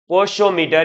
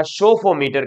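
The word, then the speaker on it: psophometer: मटर क्या आता है पोशो मटर या सोफो मटर कहा जाता है इसमें पी साइलेंट है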